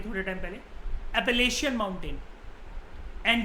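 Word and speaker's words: Appalachian: ऐसे ही north America के अंदर जो माउंटेन्स हैं, इनकी प्रोनाउंसिएशन होती है एपलेशियन माउंटेन। मैंने आपको बताया था ये थोड़े टाइम पहले, एपलेशियन माउंटेन।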